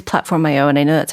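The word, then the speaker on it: PlatformIO: org platform Yoda I keep people say it's platform IO and I know that's how they pronounce it but I always think of platform you sort of like mercutio platform EO platform eeeh she experienced something or another yeah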